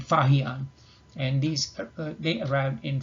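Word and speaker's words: Faxian: And the two well-known are pronounced Huan Sang and Fahian, and these they arrived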